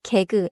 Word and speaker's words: 개그: 개그도 두 음절이에요. 개, 그. 그. It is a borrowed style Korean word, but say it in Korean rhythm. 개, 그.